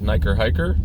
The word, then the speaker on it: NiKerrHiKerr: morning um this is niker hiker which is how you say that i've had people asking um how to pronounce it it's basically hiker and then niker which rhymes it's kind of a